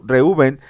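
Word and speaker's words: ראובן: Vila Ajá de lea fueron Rubén del hebreo reuben que significa eh vean un hijo después nació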